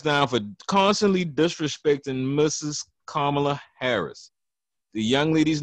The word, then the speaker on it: Kamala: Kamala Harris. The young lady's name is Kamala, not Kamala, not Kamala, or nothing like that. Or whatever. It's Kamala Harris.